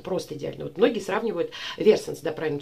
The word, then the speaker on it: Versace: Вот многие сравнивают Versace, да, правильно читается, с летним теплым днем на берегу океана.